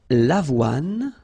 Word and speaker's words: avoine: L'avoine. Remember, don't insist on the final E.